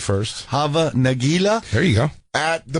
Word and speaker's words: Hava Nagila: Hava Nagila?